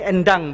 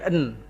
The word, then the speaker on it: Endang: Jadi ini endang bacanya. Endang. Ya, bukan en.